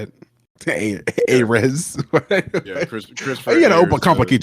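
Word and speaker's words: Ayres: Ayers.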